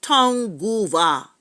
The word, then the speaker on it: Tongva: not they from the town Goa tribe t o n g v a with an accent on I think the the V and the a or the accent on the yeah so I was